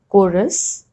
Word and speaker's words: chorus: Rule number 3, H is often not pronounced when it comes after C, G or R. Like in these examples, choir, chorus, echo, ghastly, aghast, ghoul, or rhinoceros, rhyme, rhythm.